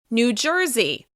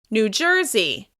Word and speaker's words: New Jersey: New Jersey. New Jersey. Once again, the stress will be on the second word. It's on the first syllable of the second word. New Jersey.